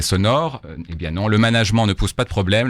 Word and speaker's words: management: avec le mot management dès lors que on le prononce management en revanche si vous le prononcez management cela veut dire que